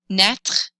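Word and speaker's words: naître: you do it again aka to come back net rhymes with et if you have trouble pronouncing it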